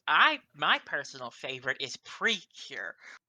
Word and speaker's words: Precure: Oh, since we're talking about favorite show movies and shows, I my personal favorite is Precure or it's kind of pronounced pretty cure in Japanese, but I love Precure.